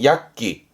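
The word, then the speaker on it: 躍起: 그래서 발음이 약기. 약기.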